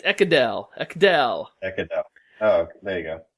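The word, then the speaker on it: Ekedal: It's Ekedel.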